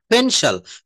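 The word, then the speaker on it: pencil: হ্যাঁ, পেন মানে কলম, ফেনশাল, ফেনশাল, this is এ ফেনশাল, this is এ ফেনশাল।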